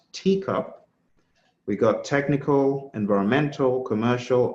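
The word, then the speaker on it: TECOP: The next one is a teacup, pronounced teacup.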